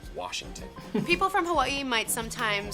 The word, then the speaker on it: Washington: So if there's a word that gets mispronounced in Washington, it's gonna be from the older generation, and it's Worshington. And all of the youngins, we say, no, it's Washington.